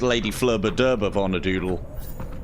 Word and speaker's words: Lady Flurba Durba Vonadoodle: It's actually it's pronounced Lady Flurba Durba Vonadoodle. I'll have you know.